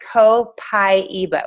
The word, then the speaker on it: Copaiba: Guys, it's pronounced Copaiba. When you get your starter kit, just remember that. So you're not like, I don't even know how to say that. Just remember there's pie in the middle.